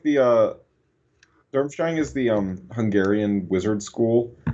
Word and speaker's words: Durmstrang: Is that how you pronounce that? Yeah, that's from Harry Potter. That's like the... Durmstrang is the Hungarian wizard school, and they got this like big old hat thing.